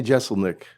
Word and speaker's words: Jeselnik: Anthony Jeselnik, pronounce it right?